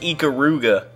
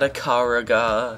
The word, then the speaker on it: Ikaruga: That's pronounced Ikaruga. Obviously not Ikaruga.